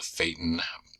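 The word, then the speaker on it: Phaeton: ago came out with something called the faten I think that's how you pronounce it P H AE t o n which is was basically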